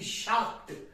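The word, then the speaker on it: Schacht: नाम द लमर शकट देखिए स्पेलिंग आपको अलग देखने को मिलेगी एच जे ए एल एम ए आर लमर इसको बोलते हैं लमर और शकट एस सी एच ए सी एच टी शकट लमर शाक प्रोनंसिएशन है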